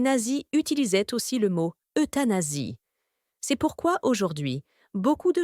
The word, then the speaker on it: euthanasie: de leur handicap est appelé euthanasie cela se prononce euthanasie c'est un mot grec qui signifie belle mort